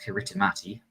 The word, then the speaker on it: Kiritimati: That is Christmas Island, yes, phonetically pronounced Kiritimati.